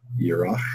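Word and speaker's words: ירח: In the Strongs, 3391, and the Hebrew is, how do you pronounce it? Yorach.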